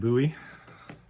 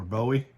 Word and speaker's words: Bowie: This was David Bowie, or Bowie, depending on how you want to pronounce.